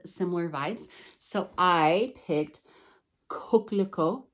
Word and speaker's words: coquelicot: So I picked coquelicot. I had my daughter teach me how to say this because it is French. It's from Reflet des Soies. So coquelicot, which I found out